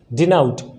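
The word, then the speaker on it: denote: अब इसको क्या पढ़ेंगे, डिनाउट। The right pronunciation of डिनोट is what, डिनाउट।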